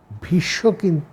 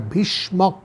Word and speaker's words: ভীষ্মক: কি কংশ নিজের পিতা উগ্রসেনকে বন্দি করে রেখেছিলেন ভীষ কিন্তু ভীষক ভীষণ নয় ভীষ্মক ভয় দীর্ঘ মূর্ধনশয় কী মক ভয় বানানটা হচ্ছে ভয় দীর্ঘি ভি মূর্ধন্যস কয় মীষ্মক